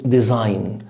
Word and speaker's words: design: طيب يصمم او تصميم design، ما تنطقش الجي وقول الاس ز، design يصمم او تصميم design.